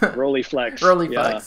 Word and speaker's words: Rolleiflex: You like, I believe it's a, I don't know if I'm going to pronounce this correctly, a Rolleiflex, or how do you say If I'm on that? a Rolleiflex, yeah.